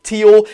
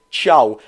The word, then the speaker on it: Thiaw: last video thank you a lot I was pronouncing it Malik Tio it actually is pronounced like you're saying hi or by in Italian Malik Chow that's how you see it but on Malik